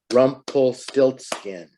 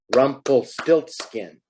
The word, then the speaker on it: Rumpelstiltskin: How many syllables do you think? Listen, Rumpelstiltskin. 4. All right, 4. That's a big word. And that's someone's name. Rumpelstiltskin.